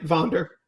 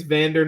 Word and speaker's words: Vander: was is he okay i've been pronouncing it wrong too i think it's vander not vonder i'm just half remembered german pronunciation of things so but go ahead